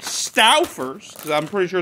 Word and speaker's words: Stauffer's: I'm calling it Stauffer's, because I'm pretty sure it's how you pronounce it, because it's spelled S-T-A-U-F-F-E-R-S.